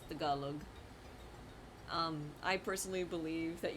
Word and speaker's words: Tagalog: Like, some people will say Tagalog. And I'm like, "No, it's the Galug."